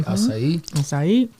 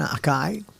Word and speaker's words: açaí: like the purple berry, Açaí. Now I know how to say it too. Yes. Yeah. Cool. They like, I was in Australia, people were like, can I have an acai? Açaí. Sounds nicer.